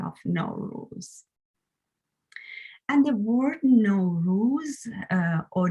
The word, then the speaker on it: Nowruz: And the word Nowruz or Newruz or some other pronunciation is just a combination of two words, as I told you.